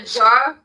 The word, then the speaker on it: giardiniera: It's a Jardinara. Yeah, he was trying to phonetically explain to us how it's supposed to be pronounced.